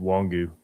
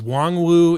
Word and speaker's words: Wongu: It's actually just Wongu. W just Wongu. Okay. Because there was a long long time it was like it was Wong Wu.